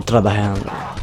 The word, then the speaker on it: trabajando: Or trabajando, as they say it. Because like the J is like pronounced as a H in Spanish.